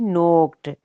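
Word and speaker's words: knocked: नोक दस्तक देना, सेकंड और थर्ड फॉर्म ईडी फॉर्म में, लास्ट में ईडी नोक्ड, ठीक है, के साइलेंट है यहाँ पे भी।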